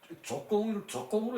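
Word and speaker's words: 足恭: 요땐 아름다울 영, 말을 교묘하게 꾸며서 하고 얼굴빛을 아름답게 꾸미고 그리고 주공, 요거 조공이라고 읽어도 상관없어요. 조공이라고 이제 공손하기를 넉넉히 해. 요것을 공손하기를 넉넉히 하다 그렇게 하는데 조공으로 읽어도 괜찮아요. 우리는 조공으로 읽읍시다 그냥.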